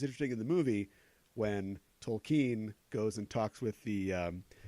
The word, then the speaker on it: Tolkien: in the movie when toll Keane goes and talks with the philology professor and he's like Oh tokine from the German Tolkien and it's like he said it right there yes it's definitely one